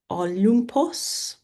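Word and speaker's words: Ὄλυμπος: Uh, Olympus where the gods live is Olumpos.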